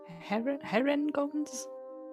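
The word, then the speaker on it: Harengons: Herringons? Yeah. That is how the book says it's pronounced.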